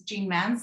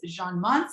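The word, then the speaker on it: Jeanne-Mance: And we're going to laugh because I pronounce Jean Mans like the Greeners. I know it's Jean Mans.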